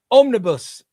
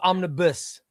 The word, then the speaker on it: omnibus: I like the way the off- I like the way you Australians say it cuz you Australians say om- omnibus. Omnib- It's almost omnibuss.